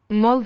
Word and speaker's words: molt: So the T in the final T's in those words I'm not hearing at all. Molt de gust. Molt de gust, which happens in many languages that a final T is silent where other consonants are still sounded.